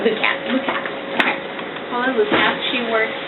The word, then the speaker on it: Lukats: I have a hard time pronouncing it. It's Lukats.